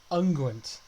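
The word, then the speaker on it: unguent: healing and ointment hold on how does it pronounce I'm gonna volume all the way up anguent okay a soft composition uses ointment for lubrication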